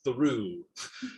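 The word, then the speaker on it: Thoreau: Um, and there's a town there called Thorough, pronounced Thoru.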